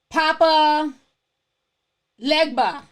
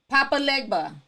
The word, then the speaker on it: Papa Legba: started warning her like it's a crazy story Papa Legba Papa Legba also I'm pronouncing it right I want pronounce it too